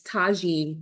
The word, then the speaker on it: tajine: on the card so take out the N it's tajine when you get this um in the mail so tajine spice Duo so you've